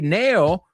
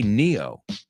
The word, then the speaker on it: Neo: Superior skills The Matrix you say Matrix we say Matrix you say Nao we say Neo yeah I know we